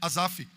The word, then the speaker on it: Asaf: Depois de Davi, quem mais escreve salmos é Asaf ou Asafe, como você preferir a pronúncia.